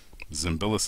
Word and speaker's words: Zimbalist: as of late and Zimbalist is how you say it and it's Greek in origin and I'm very happy